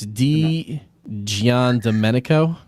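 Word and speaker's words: Di Giandomenico: It's D Gian Dominico. Yan.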